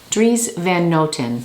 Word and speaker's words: Dries Van Noten: more time okay third time tris van noten dries van noten there you have it at least look at my pronunciations on youtube i found this beautiful like